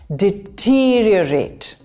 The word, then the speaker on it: deteriorate: Replace deto with det. The emphasis is on the second syllable, T. Deteriorate. There are 2 R's and we pronounce both.